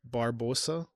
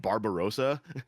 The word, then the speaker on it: Barbosa: Barb bar Barb barbosa barba. Oh, it's Barbosa. It's because I keep hearing in my head Barbarosa. Just Barbosa. Okay. There's there's no there's no extra syllable there.